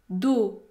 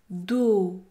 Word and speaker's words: dos: maintenant dos do do la lettre S est également muette elle n'est pas prononcée do do le mot do contient une syllabe qui se termine par une voyelle prononcée dans ce cas le O est un o fermé dos do do pour